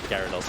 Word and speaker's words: Gyarados: Is it Gyarados or Gyarados? It's Gyarados, I think I said it wrong.